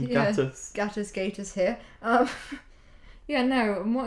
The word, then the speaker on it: Gatiss: Mark Gatiss? Yes, Mark. Insert correct pronunciation. Yeah, Gatiss. Gatiss here.